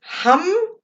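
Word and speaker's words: HAM: Okay, so our seed sound is hum, H-A-M, but pronounced hum.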